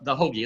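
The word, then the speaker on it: hoggee: But the hoagie, and that's spelled H-O-G-G-E-E, not like the sandwich. It's got its own spelling.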